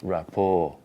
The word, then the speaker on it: rapport: It's rap or, so imagine rap or jazz. Rap or jazz. That's it. So rapport, jazz, Rapport, jazz. that's it. You see now. Because you were saying rapport, and I'm saying rapport jazz. Yeah. No? There's no T whatsoever.